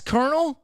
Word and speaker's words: colonel: There's not an R in there at all. I know. Welcome to the American Well, there's language. an R in here. I fucking quit. Really? That's Colonel? Yeah, Yeah, that's how you.